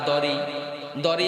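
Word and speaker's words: ضريع: খানা নাই ইল্লা তবে দরি খাবার দরি কি শব্দ এই দরিটা আরবি আপনারা এখানে উচ্চারণ কঠিন শব্দ দুই অক্ষর দুইটা আইসা গেছে দর এটা কঠিন অক্ষর আবার আইন দরি কি শব্দ ভাইয়া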